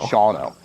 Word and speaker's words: Shawano: how do you pronounce it? Shawano? Shawano.